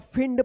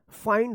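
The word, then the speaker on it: find: तो देखिए यहां पे एफ आई एन डी इसको आप फिड पढ़ रहे होंगे। पढ़े होंगे ना? फिंड इस तरह से आप इस तरह से पढ़ रहे होंगे फिंड जो कि यह पूरा गलत है। इसका सही उच्चारण देखिए यहां पे क्या होता है? फाइंड होता है।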